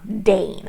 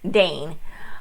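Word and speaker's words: Daine: book we meet uh dane i believe it's how they pronounce i always for some reason i pronounce it diane in my head um as it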